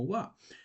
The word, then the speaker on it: は: esto es un Ja por qué tú lo pronuncias como Wa porque aquí este o este Cana no está cumpliendo la función como un Cana normal sino Acá está cumpliendo una función de partícula que nos va a